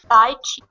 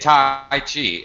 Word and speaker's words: Tai Chi: I say it Tai Chi. Xingyu, you're Chinese. How do you say it? Tai Chi. Oh my gosh. Tai Chi. Wow. Oh, Completely different. speak this in Chinese. Don't Right. speak this in English. It's okay. Tai Chi. Okay. All right. Well, notice the complete difference in how it's pronounced.